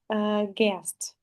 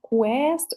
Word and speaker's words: guest: I would like to pay your attention on the word guest. You know this Yes. word so well. Just try to pronounce it correctly. guest, not quest or something like this.